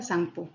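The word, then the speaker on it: Tsangpo: ब्रह्मपुत्रम तिब्बत में यारल लामसुक नाम यारल तंगसुक तंगसपो इसको वैसे संगपो पढ़ते हैं जिसे पी साइलेंट होता है संगपो के नाम से बहती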